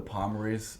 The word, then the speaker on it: Pomory: Pomory spelled I-E at the end, but only the Pomorys from New York and Kempsville, Virginia Beach.